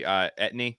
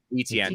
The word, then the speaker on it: Etienne: James Robinson, and I guess you drafted his boy Etney. How do you say his last name? The Travis Etienne. Etienne.